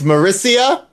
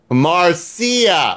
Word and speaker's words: Marcia: It's Marissa, or is it Marcia? That's the same name, different pronunciation.